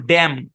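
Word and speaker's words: damn: উদাহরণ আছে খেয়াল করেন ডি এম এন এখানে এনটা সাইলেন্ট এই শব্দের উচ্চারণ ড্যাম কি উচ্চারণ ড্যাম অনেক ইংলিশ কন্টেন্টের মধ্যে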